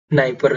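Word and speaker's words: Dnieper: उसके बाद में जो अगली नदी है हमारी, अगली नदी है नाइपर नदी, नाइपर नदी, नाइपर, नाइपर, इसमें डी साइलेंट है।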